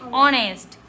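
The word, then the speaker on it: honest: हम बोलते हैं घोस्ट इसको हम ऑनेस्ट ओ H silent ऑनेस्ट एच ओ यू आर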